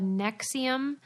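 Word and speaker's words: NXIVM: She was a member of a group called Nexium, but they spell it real weird. N-X-I-V-M. Yeah. And there's the V is the U, like the old school. Yeah, but where the fuck is the E?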